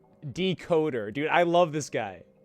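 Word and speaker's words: Dkoda: He spells it D-K-O-D-A, but because it's with an A, it's pronounced E-R. It has that English accent on it.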